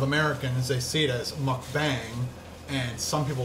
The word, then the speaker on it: mukbang: I think it is mukbang, because a lot of Koreans make sure that I say it right.